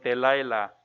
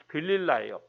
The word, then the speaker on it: 들릴라: 우리 학생들하고 같이 캠프 가서 했던 기억이 나는데 삼손의 아내의 이름은 들릴라거든요. 들릴라. 영어로는 델라일라 이렇게 발음하는데 들릴라예요.